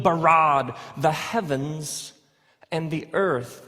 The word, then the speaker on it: bara: now the word for create is the word bara let me hear you say bara it's this forceful energetic word of making things out of nothing in the beginning Elohim barad the heavens and the earth now the earth